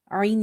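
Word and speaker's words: عين: So Ain is from the throat, purely from the throat, and it's from the middle part of the throat.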